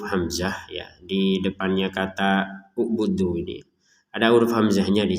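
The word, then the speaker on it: اعبدوا: U'budu rabbakum. Nah, ini hamzahnya tidak ada harokat dhammah, tetapi kenapa kita baca dengan harokat dhammah?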